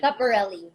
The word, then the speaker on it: Schiaparelli: Scaparelli. Yeah, Scaparelli. How do you say Schiaparelli, it? Scaparelli? Scaparelli. Schiaparelli.